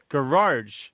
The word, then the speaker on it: garage: He's got an R insertion thing happening.